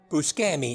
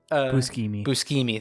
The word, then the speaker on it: Buscemi: say his last name brett buscami no it's buscemi there we go um